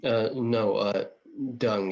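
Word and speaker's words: Deng: is his name right d uh no uh dung it's pronounced d-e-n-g dung i'm terrible at remembering english names so remembering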